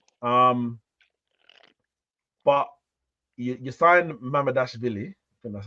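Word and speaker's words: Mamardashvili: actually as well um but you you signed madash vly that's how you say his name um for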